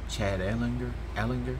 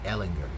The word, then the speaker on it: Ellinger: I'm saying that name wrong, right? Chad Allinger? Yeah, Ellinger. That's what it is.